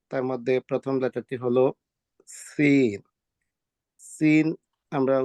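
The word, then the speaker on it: سين: মধ্যে প্রথম লেটারটি হলো সিন সিন আমরা উচ্চারণ করব হলো জিহ্বার আগা সামনের দাঁতের নিচের দাঁতের গোড়ার মধ্যে লাগাইয়া উচ্চারণ করব সিন সিন সিন তারপরের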